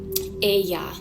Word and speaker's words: Aya: She says Aya, like for her own name, that's what she calls herself. She doesn't even call herself Ava.